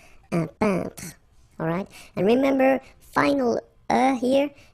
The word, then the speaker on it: peintre: So remember when you get this E-I-N together here, then you pronounce this un sound. So nasal in your nose. Un peintre.